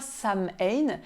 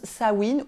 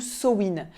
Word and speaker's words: Samhain: s'écrit samhd1 yen mais ça ne se prononce pas sam lane ça se prononce sa wind ou somine d'où ça vient en